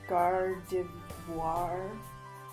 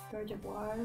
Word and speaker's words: Gardevoir: It is called Gardevoir. Gardevoir? Gardevoir. Hmm. French pronunciation.